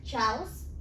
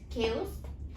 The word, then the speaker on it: chaos: pronounce it wrong so most of the people say it ciaos it's chaos people said subtle subtly but